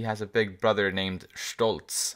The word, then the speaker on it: Stolz: a big brother named stoltz at least that's how it's pronounced in german it means proud but